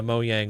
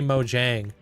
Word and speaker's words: Mojang: I asked you guys what the appropriate way of pronouncing uh Mo Yang was, and you guys you guys said Mo Yang, so now I'm on it. I used to say Mojang, but I I feel